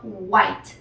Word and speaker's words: White: posible bien Así que en este caso no es Wi sino White luego tenemos rojo que